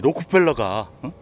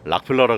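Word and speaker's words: Rockefeller: 근데 제가 이 록펠러가 다들 또 어저께 또 들은 게 있어가지고 락펠러라 그러지 않고 록펠러 그러네요.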